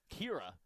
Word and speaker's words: Ciara: Number 18, sophomore Ciara, pronounced Kira, as I've just learned after the word after the name.